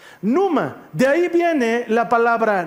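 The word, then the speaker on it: πνεῦμα: entró el espíritu y en griego eso se pronuncia Numa Numa de ahí viene la palabra neuma que es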